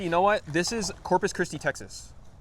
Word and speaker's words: Corpus Christi: He's like, "Oh yeah, we're uh Corpus Krispy." And I was like, "Wait, why do you say Corpus Christie?"